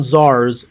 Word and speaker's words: czar: this slide in this main idea is Russian Czars fuel revolution and in other words our looks